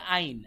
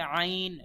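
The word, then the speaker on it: ع: বলবো এটা আবার একটু কঠিন গলার ভেতর থেকে আইন একটু আগে যেমন হা বলেছিলাম হা গলার ভেতর থেকে এটাও তেমনি গলার ভেতর থেকে আইন অনেকে বলে আইন আইন বললে হবে না বলতে হবে আইন আ এভাবে আ বললে হবে না আ দেখেন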